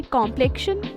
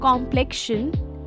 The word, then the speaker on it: complexion: say, wait a minute, it's not complexion, but complexion. Yes, the stress is on the second syllable and the O in the first is pronounced like a A in the China.